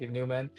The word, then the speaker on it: NVMEN: I thought the V looked cooler, but it's still pronounced like Newman.